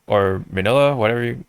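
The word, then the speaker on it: Minilla: those especially like right around like when they introduced the minia or manila whatever you how you pronounce manila yeah well cuz in Japanese it's mini it's mini la because Godzilla you know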